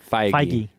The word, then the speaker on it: Feige: What they have with Kevin Feige. Feige. Yeah. I was like, I don't know how to Feige.